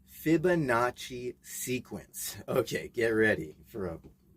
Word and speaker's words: Fibonacci: Now, this video is regarding a mischievous little gremlin cat and the Mandela effect and the Fibonacci. Did I say that right? No, didn't say it right. Fibonacci sequence.